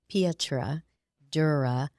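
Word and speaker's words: pietra dura: this is a um is a tricky word to say it is Italian and I'm trying to remember how to say it I had to look it up actually it's um Petra Dura marble top dining table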